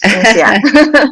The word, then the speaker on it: INSEAD: My MBA is called INSEAD. It's a French school. Sorry. Yes, INSEAD.